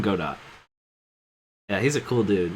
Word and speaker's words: Godot: oh oh oh oh you mean Godot or gdau as his name is properly pronounced but I call him God do yeah he's a cool